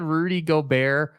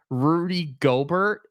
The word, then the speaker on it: Gobert: ago and we said Rudy Gober Rudy gobert people were like like say his name right say his name